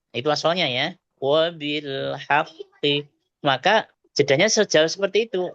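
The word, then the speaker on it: وبالحق: Nah, itu yang ya kita pelan bacanya. Wabilhaqqi itu asalnya ya. wabil haqqi.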